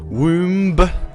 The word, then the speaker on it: womb: polaroid down to the the womb womb silent b and let's see if